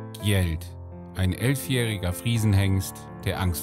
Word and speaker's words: Gjeld: neuer gast ist eingetroffen geld wird es ausgesprochen ja anders wie man gleich